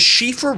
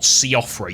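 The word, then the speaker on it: Siofra: The Shiffra River is one of the many expansive underground areas in Elden Ring. Yes, that is how you pronounce it. It's not Seafra, you donut.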